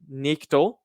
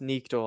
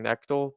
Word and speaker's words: Knechtle: Maybe wrong, but uh, it's pronounced Nichtel, I think, because it's always people always saying Nectal, but it's Nichtel, I think.